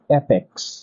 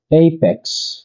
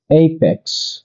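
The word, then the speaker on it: apex: টু এই পি এক্স আমরা ভুল উচ্চারণ করে বলে থাকি এপেক্স কিন্তু এর সঠিক উচ্চারণ হচ্ছে এইপেক্স। এইপেক্স নাম্বার থ্রি এই সি এইচ ই আমরা বলে থাকি এক।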